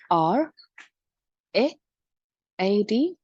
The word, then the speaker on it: read: usually, not always, usually, when two vowels are together, the first one says its name.